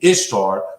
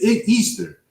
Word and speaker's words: Ishtar: Well, it's the Egyptians' goddess name is Easter, but the way that it's written out is Ishtar, which is to us would be Ishtar, but it's pronunciated Easter.